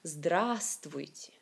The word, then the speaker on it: Здравствуйте: Ici, il y a trois voyelles, mais c'est une seule A qui est vraiment accentuée, qui est augmentée. Здравствуйте.